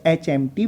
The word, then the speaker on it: HMT: अगला एग्जाम्पल देखें, I want to purchase dash HMT watch. अब HMT भी भाई एब्रीविएशन है, स्टार्ट किससे हो रहा है, इसका प्रोनाउंस ए से स्टार्ट हो रहा है, इसलिए यहाँ पर